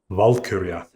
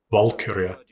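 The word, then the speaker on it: valkyrja: But in fact, Vura emphasis strongly on the first syllable just like Evald.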